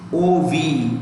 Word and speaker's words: of: OF is OV. उसका उच्चारण OV से करते हैं. क्या करते हैं? How do we pronounce OF? OV.